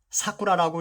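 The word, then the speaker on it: 桜: 가지 더 보겠습니다 신자체 이것은 사쿠라라고 읽습니다 일본말로 여기에는 두 가지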